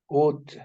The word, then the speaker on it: would: you read this word would would Bravo the L is silent another example he what